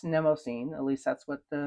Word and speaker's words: Mnemosyne: the pen show in San Francisco how you pronounce it, and I heard people say "Mnemosyne." I've heard people say "Mnemosyne." I've looked it up on Google, and it says both. So, anyway, now it's Mnemosyne.